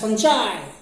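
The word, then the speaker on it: fungi: They are फंगी, फंगस, some people will pronounce it एज फंजाई।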